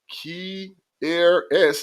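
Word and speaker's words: Kearis: All right, number 2, Kier S. Jackson, that's how you pronounce it, makes an incredible catch from Stetson Bennett.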